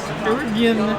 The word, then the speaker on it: DRGN: No, it's DRGN. Durgan.